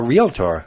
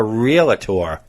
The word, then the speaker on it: realtor: When you want to sell your house, you call a realtor, not a realtor. Oh, no, I've heard it called, yeah. It's a realtor, not a realtor. Because I think real estate, it throws people off.